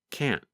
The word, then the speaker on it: can't: harder to hear, and it just sounds like this: can't. In American English, we call that a held T. Instead of pronouncing the T, your tongue just comes to a stop against the hard part of the roof of your mouth just behind the upper front teeth.